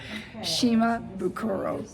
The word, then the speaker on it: Shimabukuro: Shima Bukuro.